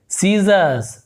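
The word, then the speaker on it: scissors: सीजर्स, सीजर होगा ये सीजर, इसे हम सीजर में आर को हम नहीं पढ़ते, सीजर्स ऐसे आर साइलेंट होता है, सीजर इस प्रकार से।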